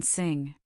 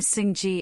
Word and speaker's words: sing: Avoid the temptation to pronounce a hard G afterwards. Saying sing G is a common error.